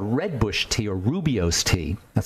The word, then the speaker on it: rooibos: There's a really interesting tea called redbush tea or rubios tea. That's spelled R-O-O-I-B-O-S, rubios tea or rooibos tea.